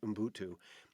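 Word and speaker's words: ubuntu: years it's a concept encapsulated in the word umbuntu in buntu it's spelt u-b-u-n-t-u it's but it's pronounced umbutu is a philosophy that came to have special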